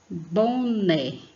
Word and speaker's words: boné: E né é a sílaba tônica, ou seja, a sílaba forte, boné.